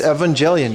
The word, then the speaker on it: Evangelion: Japanese pronunciation for Evangelion. It's Evangelion, dude.